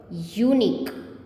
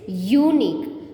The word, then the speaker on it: unique: It's not u, unique, not is unique, it is unique. So we will pronounce it as consonant sound. So it is a vowel word, but it pronounced as a consonant sound y, unique.